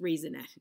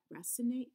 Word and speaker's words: Racinet: I know it's not pronounced raisinette. It must be racinet? Racinet? Auguste, French, Auguste Racinet.